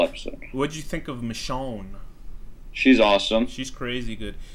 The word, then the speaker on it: Michonne: I was trying to like pronounce it McCone in my head, but I guess that's obviously wrong. I figured it'd be Michonne.